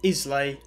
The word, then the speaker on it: Islay: regions of scotland isla spelt islay pronounced isla it's a small island